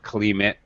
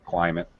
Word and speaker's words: climate: uh pronunciation climate okay this is not climate it's clay long eye sound climate um okay and you